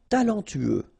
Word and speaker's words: talentueux: talentueux. Final X not pronounced. Then you get this U together. Then TU, tueux. Talentueux. Talentueux.